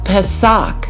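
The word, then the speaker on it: πάσχα: And that word is Strong's G3957 and it's pronounced pesak.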